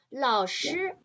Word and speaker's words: 老师: 老师 the pronunciation, you can put the English word lost nearby. Lost. 老师 lost. You think about me as the teacher, Jiang. I can help you. You will not be lost in the jungle. Lost nearby is just to try to help you to remember the pronunciation.